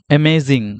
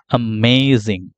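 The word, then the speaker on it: amazing: question আচ্ছা এরপরে দেখেন অ্যামেজিং অনেকে এটাকে আমরা অ্যামেজিং বলি অ্যামেজিং অ্যামেজিং এটার কারেক্ট প্রোনাউন্সিয়েশন আসলে আমেজিং আমেজিং আ সাউন্ড আছে শুরুতে দেখেন আমেজিং আমেজিং আমেজিং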